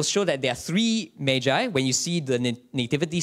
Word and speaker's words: Magi: But basically, these people, the Greek word, I like to pronounce it Magi, sounds less easily confused with Maggie Noodles.